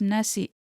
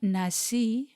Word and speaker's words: nasi: The word nasi is colloquially pronounced with a K at the end of it.